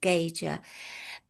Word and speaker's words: Gaiger: G A I G E R but it's pronounced Gager, but most people call me.